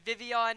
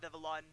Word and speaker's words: Vivillon: of this because I didn't realize how French pronunciation worked but Vivian is video not vivillon because it's fresh I myself am guilty of calling it vivillon but it's Vivian yeah and the only